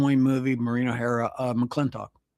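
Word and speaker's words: McLintock: You remember uh the John Wayne movie, Marino Hera, uh Mcccleintoch? Yeah. Or some people pronounce it mcclintic.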